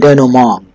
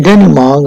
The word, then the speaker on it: denouement: The next two parts are crisis and denouement. Denouement pronounced, it is a French word and its pronunciation is a little difficult.